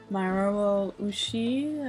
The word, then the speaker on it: Mamoru Oshii: There is a commentary with Mamoru Oshii, I believe is how you pronounce the actor's name, and also with the animation director, which I'm not going to pronounce his name.